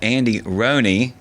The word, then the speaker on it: Andy Rhoney: And this episode we have Andy Rooney. Yes. And his ultra ego Henry River. You got that right. You pronounced it right.